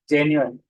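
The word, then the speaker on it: genuine: उसको कैसे पढ़ना है, जे न्यू अन, जेन्युइन, इस तरह प्रोनाउंसिएशन करके।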